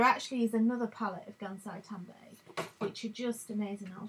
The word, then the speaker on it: Gansai Tambi: And these, it's pronounced Gansai Tambi, Tambi.